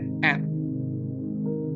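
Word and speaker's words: את: Ini adalah huruf Alef, dan ini adalah huruf Taf. Bacanya Et.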